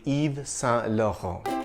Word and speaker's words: Yves Saint Laurent: If you have trouble with the French pronunciation, you can say it the English way, Yves Saint Laurent, or shorten it to its initials, YSL. But if you want to be absolutely right, say Yves Saint Laurent.